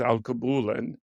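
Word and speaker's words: Alkebulan: And that led me to my latest, biggest project of my life, which is Al Kabulan, and you did pronounce it correctly.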